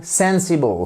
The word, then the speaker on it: sensible: sensible c'est bien raisonnable accentuation sur la première syllabe sensible for exle she made